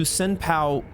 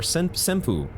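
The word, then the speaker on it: Senpou: leads us here to senpow Temple or sempu I think that's actually how it's pronounced AKA Bell demons Temple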